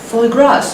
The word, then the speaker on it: foie gras: Foie gras, you know? Goose liver. Oh my dear. It's pronounced foie gras.